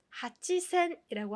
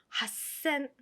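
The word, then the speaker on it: はっせん: 8천은 하치센이라고 하지 않고요. 핫센, 핫센, 핫센이라고 발음을 해줍니다.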